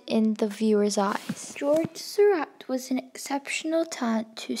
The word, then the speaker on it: Seurat: His name wasn't pronounced George Seurat, but pronounced George Seurat.